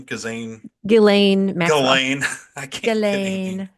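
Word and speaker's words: Ghislaine: her name gazan galain gain I can't gain the S is silent I believe it's a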